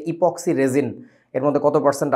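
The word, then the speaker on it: epoxy: raisin শব্দটা এপোক্সি raisin অ্যাপক্সি না উচ্চারণটা ইপক্সি ইপক্সি রেজিন কোথায় দেখছিস একটু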